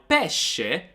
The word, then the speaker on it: pesce: words we've studied today now peshe means fish but if you add an h in there then you would read it as peske pesque so we've got peshe and pesque peshe means fish but peske means peaches so again it's very important